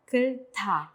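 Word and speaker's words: 끓다: Entonces, ¿cómo se pronunciaría? Kulta.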